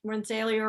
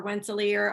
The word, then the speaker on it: Rensselaer: are technical programs like Rensselaer or Rensselaer. I always hear it pronounced two different ways.